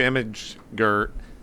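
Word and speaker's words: imgur: going to give you image g i i pronounce it image G don't make fun of me that's how it's pronounced I say that too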